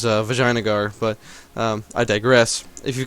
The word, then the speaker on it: Vijayanagar: of course, as saying the only proper way to say it, of course, which is, Vijayanagar, but, I digress.